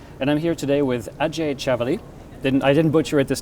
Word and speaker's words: Ajay Chavali: My name is Ajay Chavali, so I'll say it right again.